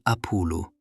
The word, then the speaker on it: Apulu: Non dicevano Apollo, dicevano Apulu. Non dicevano Bacco, dicevano Paccia.